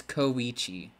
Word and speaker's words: Kichi: phoe Damonte Falcon 1423 they commented how the correct way to say this character's name I mispronounced it before it's kichi so this is kichi